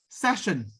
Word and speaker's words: session: The other word is session. Session. It is different from section. If you notice the pronunciation, this is session and this is section.